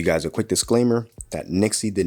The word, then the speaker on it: Nyxi: from a company called Nixie pretty sure that's how you pronounce it Nixie or NY XY pretty sure it's Nixie but we do have